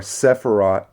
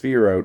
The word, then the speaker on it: Sephirot: of the Sphirot or Sephirot. I've heard it pronounced Sphirot by Daniel C. Matt himself, so I'm going to go with that.